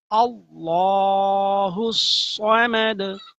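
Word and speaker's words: ٱللَّهُ ٱلصَّمَدُ: করে শিখুন আল্লাহুস আবার সুন্দর করে সুক্ত করে বলতে হবে আল্লাহ আল্লাহ বললে হবে না আল্লাহ আল্লাহ আল্লাহ আরেকটা হল আল্লাহ এটা দুই শব্দ আল্লাহুস সমাদ সমাদ সমাদ টান হবে না সমাদ সদ দাল সদ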